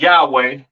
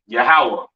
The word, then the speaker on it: Yahawah: so on right so the lord's name is yahawah not y yahwa or or not Yahweh all right yahawah to the left of